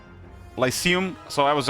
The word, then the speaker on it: Lyceum: Google AI, just give me a pronounce there. No video. Like, and I think it's Lyceum.